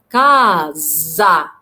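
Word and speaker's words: casa: في عندنا لا لتر اس لو جت ما بين دو فوكالي او ما بين حرفين متحركين بتنطق ز. كازا كازا كازا، يبقى هنا اس اتنطقت ز ز كازا.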